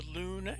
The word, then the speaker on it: Luhn: In recent wanderings around the internet, I ran into the Luhn algorithm. Luhn, pronounced l o o n, was a mathematician for